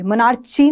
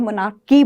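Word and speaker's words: monarchy: की बोलते हैं जनरली, मोनार्ची नहीं बोलते हैं, मोनार्की बोलते हैं, ठीक है।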